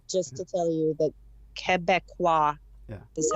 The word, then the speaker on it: Québécois: And I'm calling today just to tell you that Quebecois is how you say it.